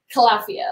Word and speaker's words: Califia: So it's actually pronounced Califia, like California.